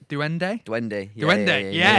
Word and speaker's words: duende: Let's see if I pronounce it right. Duende.